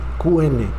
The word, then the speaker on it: Caín: sí lo Escuchaste bien dije Caín qn en español ya no se dice Caín con c pero en el hebreo lleva la Q en fin en primera